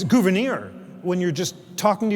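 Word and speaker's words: Gouverneur: Uh, it's Gouvenir.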